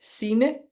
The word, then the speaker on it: Sine: we know okay hi and my name is CA and I'm from Denmark yay and of course I'm Amanda and just here to inspire you and I know she said I can say it this way because of my American